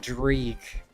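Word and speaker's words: dreich: It's pronounced dri. It means wet gray weather. It means wet d gray and gray weather.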